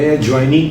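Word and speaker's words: adjoining: आप एडजॉइनिंग ना कहें, एडजॉइनिंग कहें, डी साइलेंट, डी के साथ जब जे लग जाता है तो डी बिकम्स साइलेंट।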